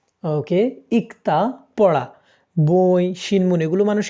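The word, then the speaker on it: 읽다: র ফ থাকে তাহলে বাম পাশেরটা সাইলেন্ট থাকে ডান পাশেরটা উচ্চারণ হয় সাধারণ নিয়মে যদি ভাতমে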